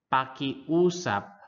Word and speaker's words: pakiusap: When a word has multiple vowels, pronounce each letter separately. The first one, example, we have maalaala, maalaala, maalaala, maala. Ala, maalaala, maalaala. Next is pakiusap, Pakiusap.